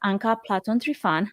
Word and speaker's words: Anka Platon Trifan: My name is Anka Platon Trifan. That's right, that's how you pronounce it.